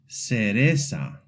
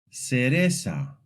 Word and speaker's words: cereza: In Latin American Spanish, Z is very simple. It's pronounced just like S. This means that any word with a Z sounds exactly the same as if it had an S.